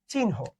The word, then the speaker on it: চিহ্ন: উচ্চারণটা কি? চিহ্ন।